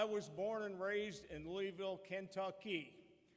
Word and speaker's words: Louisville: born and raised in Louisville Kentucky noticed how I said that that is the actual pronunciation it got corrected Somewhere